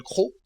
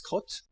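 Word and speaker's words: Croth: Dans un petit village en Normandie, dans une ville qui s'appelle Crau. Alors ça s'écrit C-R-O-T-H, les gens disent crotte, mais c'est Crau en fait, c'est Crau. Et en anglais c'est Croft.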